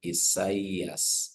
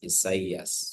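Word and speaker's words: Ἠσαΐας: So when you're pronouncing this, you'll say Isaias, Isaias. So you pronounce them as separate letters.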